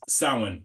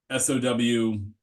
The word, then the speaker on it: Samhain: So this guy right here, this is Samhain, just like SOWAIN, I guess, like Samhain.